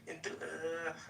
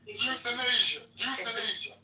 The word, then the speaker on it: euthanasia: Enthu I can't pronounce that. Euthanasia euthanasia. So the e is silent.